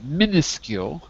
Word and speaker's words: minuscule: its uh minus seek we we say it like this minuscule minuscule minuscule means tiny small and